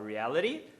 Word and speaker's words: reality: Ele faz o tap nos dois. Então ele fala reality gravity.